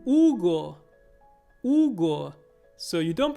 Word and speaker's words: Hugo: it you might say hugo but in spanish you say hugo you don't pronounce the h and the next one